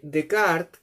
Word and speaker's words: Descartes: Entonces, el filósofo Decart, descartes se escribe en francés.